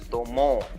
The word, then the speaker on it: tomó: Miren esta, tomó. Aquí la diferencia es incluso que esta tiene tilde. Recuerden lo que dijimos al principio sobre la existencia o no de la tilde. Entonces la sílaba tónica aquí es mo.